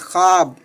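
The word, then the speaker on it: خواب: जैसे ख्वाब, तो वाव का प्रोनाउंसिएशन नहीं हो रहा, वाव का तलफ़ुज़ नहीं हो रहा, वाव नहीं पढ़ा जा रहा, तो वैसे वाव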